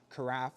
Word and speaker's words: carafe: And here on the side, this is the carafe, rhymes with giraffe, in case you wanted to remember that.